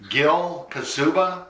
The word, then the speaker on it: Gil de Ferran: Gil de Ferran Is that correct?